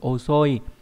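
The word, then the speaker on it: 遅い: Âm cư đọc là oso hoặc là oku, ví dụ trong từ osoi có nghĩa là chậm, trễ hoặc lỡ.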